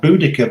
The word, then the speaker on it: Boudica: We had Boudica back in Roman times fighting the Romans, or Boadicea, whichever you want to pronounce it.